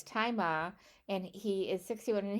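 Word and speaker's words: Tzi Ma: Anyway, I did want to say the guy who plays Billy's father, apparently it's pronounced Tai Ma.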